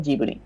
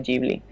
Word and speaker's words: Ghibli: pasa por l pues lo tradujeron como gibri y con los años descubrieron que no era gibri que era aquí entonces en Japón siempre que hablen de estudio ghibli porque se escribe gibby lo dicen así en occidente tendemos a decirlo como ghibli porque es la palabra italiana yo por referencia al original pues digo gibli pero sí pero ellos lo